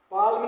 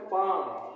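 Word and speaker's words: palm: पी ए एल एम पालम नहीं पढ़ना है इसको पाम क्या पढ़ेंगे पाम पाम मींस हो गया हथेली एल साइलेंट है पी एस ए एल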